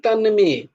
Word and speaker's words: তন্মে: নয় তমনি তাই হয় সংস্কৃত উচ্চারণটা তাই হয় তানমে তানামে তানমে তন্মে নয় তো তন্মে বৃহি তমে